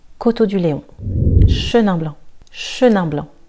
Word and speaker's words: Chenin blanc: Chenin blanc, Chenin blanc. Le C est silencieux, donc tu ne diras pas Chenin blanc, mais Chenin blanc.